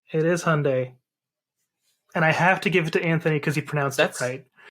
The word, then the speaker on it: Hyundai: Hyundai. It is Hyundai. And I have to give it to Anthony because he pronounced it right.